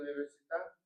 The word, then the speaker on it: università: With 5 syllables, we emphasize the middle syllable to get through that word.